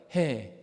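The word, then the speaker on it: ה: 해. 따라해 볼까요? 해. 뭐 어렵지 않죠. 한 번 더 하겠습니다. 해. 네, 이게 5번째 글자예요. 흐 발음이 나기도 하고 묵은 발음이 나기도 하는데,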